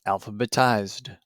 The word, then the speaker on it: alphabetized: The past tense of alphabetize is alphabetized. Alphabetized also has 4 syllables.